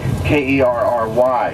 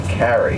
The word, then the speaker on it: Carrey: presidential candidate, John Kerry, K-E-R-R-Y, or K-E-R-R-I. That's Kerry. Most people mispronounce his name and say Kerry, but it's actually Carey.